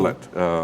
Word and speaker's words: Mallett: You pronounced it correctly, thank you. Mallett.